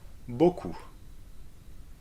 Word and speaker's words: beaucoup: O can be spelled AU or EAU. Like in, and let's repeat it, O, O, beaucoup.